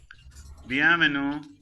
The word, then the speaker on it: bienvenue: Bienvenue. Bienvenue is welcome. Bienvenue. Sorry, sir. How Venu. should I pronounce this?